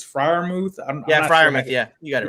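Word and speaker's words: Freiermuth: know how say his name i guess it's friar mouth yeah yeah you got it right i like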